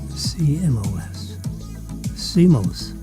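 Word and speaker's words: CMOS: COS SIMOS. That's how you would say it if you were saying it. Or COS if you wanted to spell it out.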